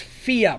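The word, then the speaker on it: Fiadh: somebody i like uh her name is fia pronounced f-e-e-a but it's actually spelled f-i-a-d-e fia i should have a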